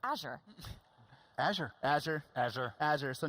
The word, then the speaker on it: Azure: It's Azure.